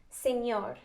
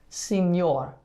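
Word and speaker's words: señor: what is that about so it's just where you're going to put the emphasis on the word uh so you're gonna make like the enye sound so you would say senor signor you say it okay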